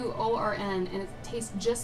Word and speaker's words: Quorn: thing, actually two things, is this brand called Corn, which is spelled with a Q. It's Quorn, and it tastes just like turkey, but it's fungus.